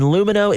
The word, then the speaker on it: Lumineux: That's LUMINEUX. Remember, it's spelled with an X so that you can X out the harm.